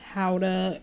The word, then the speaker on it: Gouda: Smoked Gouda chicken sausages. And yes, that is how it's pronounced.